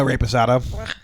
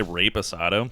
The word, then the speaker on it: reposado: Did you say rape asado? Yeah, because I know how to actually speak Spanish a little bit. It's not reposado. That's not how you pronounce an E in Spanish, bro.